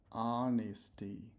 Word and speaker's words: honesty: The H is silent. Honesty.